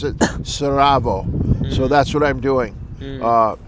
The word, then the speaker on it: Sarajevo: in what is Sara Bosnians have told me pronounce it like this Sarajevo and so I will pronounce it like that hoping I'm correct but a a gentleman who was Yeah, that's how it's spelled.